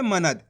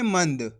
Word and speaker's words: मंद: ना लगे हुआ है जबकि यहां पे अनुस्वार की मात्रा यानी कि आधा उच्चारण करेंगे तो कैसे पढ़ेंगे मंद कैसे पढ़ेंगे मंद फर्क समझना है आपको मनद मंद ये फर्क होता है तो आपको अच्छे से